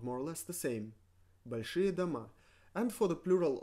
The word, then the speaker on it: большие: Большие. Большие. Большие. Pronounced rie, большие. Written большие. Written with e only because it follows sh, and according to the 7-letter rule, we need to write e after sh.